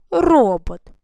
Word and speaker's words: робот: І робот. На який склад? Ста ми ставимо наголос на перший. Робот.